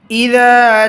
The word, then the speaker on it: إذا: لكم دينكم ولي دين بسم الله الرحمن الرحيم إذا إذا জালটা নরম করে বলতে হবে হালকা আওয়াজে